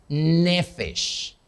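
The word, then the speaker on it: נפש: Porque la vida, esa palabra vida, en hebreo es nefesh. Nefesh se escribe así.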